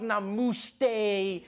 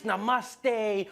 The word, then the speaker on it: namaste: on like dude it's not namuste it's namaste who messes up namaste